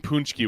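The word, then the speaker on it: pączki: Oh, I always called it like Pakshi. Yeah, that's close. Yeah. Pajki? Pajki. See, I'm probably way off on that. I've seen punchki when I've seen it phonetically.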